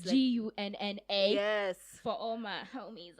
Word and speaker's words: Gunna: But first of all, she's not talking about like it's not spelled like Arsenal Ghana. It's Gunna.